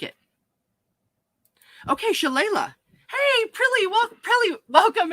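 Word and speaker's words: shillelagh: see how we pronounce it okay um pronunciation i like it okay shalala hey prilly we'll probably welcome in so cool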